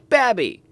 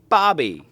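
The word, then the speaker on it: Babbie: the city limits of babby or Bobby b a BB I E if you're from Alabama I'm sure you pronounce it one of those ways or maybe not who knows and with a sweet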